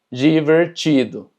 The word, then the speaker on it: divertido: Y cuando tenemos DI, también se pronuncia ji. Por ejemplo, divertido. Como puedes ver, tenemos TI, que se pronuncia chi. Entonces es divertido.